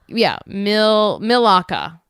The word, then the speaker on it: Milaka: Milaka. It says pronunciation M-I as in milk, L-A, law as in law, Mila, and K-A as in cut.